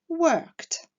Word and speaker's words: worked: Like et work se terminant par le même son, qui est un son sourd, la prononciation de la terminaison ed sera donc t, liked, worked.